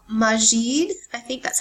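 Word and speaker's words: masjid: Um, and it and and the word mosque comes from a word called majid. I think that's how you pronounce it.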